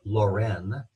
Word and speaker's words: Lorraine: He was from Lorraine. I'm pronouncing the N here.